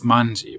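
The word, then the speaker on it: 卍: In Japanese, you pronounce this manji, which was Hokusai's last artistic name. He didn't always call himself Hokusai, and at this very late stage in his life, he called himself manji.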